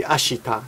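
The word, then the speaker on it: 明日: Now notice that ashita, the I is barely pronounced. You don't say ashita, you say ashita.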